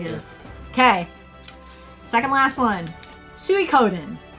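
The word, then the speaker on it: Suikoden: okay second last one Su Coden not suen Su cenen um I've been growled more than once on the pronunciation of this but I'm going to blame other YouTubers I've watched big Channel YouTubers that keep calling it swen and I have other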